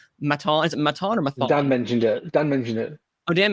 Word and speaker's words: Mathon: So it's the Claire Maton or Mathon? I can't remember. Is it, how do you pronounce it? She's French, so we'll go with the sharp T, Maton. Okay, Maton.